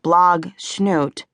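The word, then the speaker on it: Blogsnoot: The blog snoot family, pronounced blog schnoot, falls somewhere between deliberate and just doesn't know any better.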